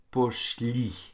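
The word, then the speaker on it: пошли: So muy poszli. Okay, li is where the stress is on that one.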